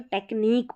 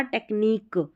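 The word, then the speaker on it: technique: क्यू यू ई इस तरीके से लास्ट में आया तो टेक्निक पढ़ा इसको क्या पढ़ा? टेक्निक टेक्निक। तो यहां पर इस क्यू यू क्यू यू ई को क प्रोनाउंस किया है।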